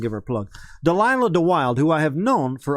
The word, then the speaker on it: DeWylde: And DeWild is spelled DEWYLDE. Delilah DeWild.